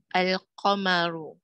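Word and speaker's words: القمر: lunar letters example aya komaru the moon is pronounced al komaru here are some more examples of the assimilation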